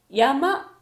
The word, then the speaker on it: 山: これは山と読みます。